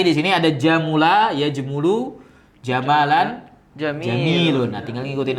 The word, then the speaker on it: Gamal: E atau istilahnya Gamal. Kalau dalam ee ejaan orang Mesir jadi apa? Gamal. Gamal. Karena Jim jadi ga.